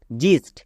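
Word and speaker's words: gist: জি ও ডি god next জিস্ট এখানে দেখো জি এর পরে আই আছে জি এর পরে ই আই ওয়াই থাকলে বর্গীয় তাই এখানে জিস্ট হলো আশা করি বিষয়টা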